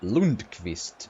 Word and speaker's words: Lundqvist: Lundqvist takes it. Or as we pronounce it, Lundqvist.